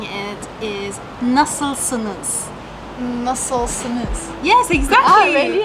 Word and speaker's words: nasılsınız: So the formal way of saying it is nasılsınız?